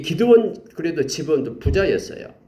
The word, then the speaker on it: 기드온: 이스라엘과 이렇게 화친을 맺었던 기브온이고 이 기드온은 사사죠. 기드온. 기도원 이렇게 발음이 되기도 하죠.